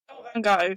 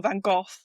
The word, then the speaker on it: Van Gogh: Oh, Van Gogh, for sure, or Van Gogh, as we say in Van Gogh, England. as we say in Europe, yes. And we say it right because he was Dutch, right?